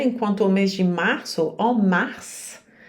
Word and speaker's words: mars: a mês de março Mars você pronuncia o s é uma exceção no sentido que aqui